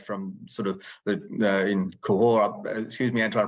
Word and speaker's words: Cahors: from sort of in Cahors. Excuse me, Antoine, I probably didn't pronounce it correctly. Cahors, that's perfect.